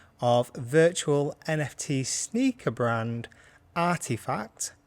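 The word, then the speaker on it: RTFKT: virtual nft sneaker brand artifact that's RT k f t pretty sure I'm right with that pronounce the brand name yeah but so yeah it's after effects or RTF KT and then finally I'm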